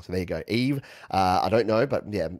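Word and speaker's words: Yves: things off uh eve okay pronounce like eve excellent so now whenever i see y-v-e-s i'm going to go with eve and yeah i thought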